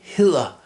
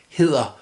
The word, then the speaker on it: hedder: Jeg hedder. We've got this soft D here in the middle. Hedder.